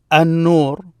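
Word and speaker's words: النور: These are not parts of the words, but they added that to tell you how it's pronounced. Ad-Dam. An-Nur, An-Nur.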